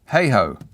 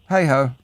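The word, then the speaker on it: Hayhoe: you you certainly can h a y h o e hey ho yes yeah hey ho yeah okay all right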